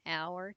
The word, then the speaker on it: hour: example give me an hour to finish so the H is not pronounced in our um and